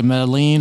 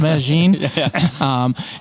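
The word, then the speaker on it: Medellín: Some people don't know how to pronounce that. They say Medellin or something, but it's pronounced Medellin.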